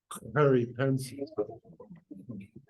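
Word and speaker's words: gariepensis: The way they pronounce their G's, it's a sound. So it's aloe peripensis. You have to pretend you're going to spit, but it's Harip is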